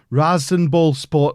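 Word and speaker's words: RasenBallsport: be taking over at I'm not gonna try and say it right race race I am gonna try and say apparently right rosin ball sport Leipzig RB Leipzig Red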